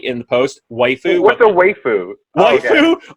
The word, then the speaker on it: waifu: right in the post waifu what the way food my waifu is what an anime fan will call the their female female character because it's the kind of Japanese Japanese pronunciation of word wife so it's all white